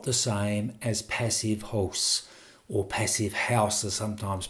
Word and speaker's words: Passivhaus: not the same as passive host or passive house as sometimes people pronounce it. I'd prefer the German one to differentiate it more.